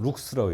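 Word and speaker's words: lux: 그리고 읽기로는 룩스라고 읽어요. 룩스. 그래서 우리가 1룩스, 2룩스 제일 많이 쓰는 빛에 대한 성질을 나타내는 단위가 조도예요.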